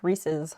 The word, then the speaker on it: Reese's: do you pronounce reese's it's reese's like the name reese and the cups belong to reese so it's reese's cups it's eating stuff by